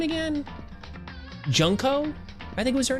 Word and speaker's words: Junko: yes yes continue yes say it like junco junco isn't it junko I mean junko junko